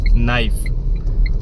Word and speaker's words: knife: अब इसमें के साइलेंट होता के है. साइलेंट होता है. ठीक है. ये तो के साइलेंट में तो कनाइफ पड़ जाएगा.